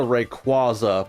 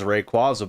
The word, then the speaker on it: Rayquaza: Like I'll admit, I was a Rayquaza boy instead of Rayquaza. That's how I always said it as Rayquaza back in the day. But I've heard it said Rayquaza, and even in like official like pronunciations, it's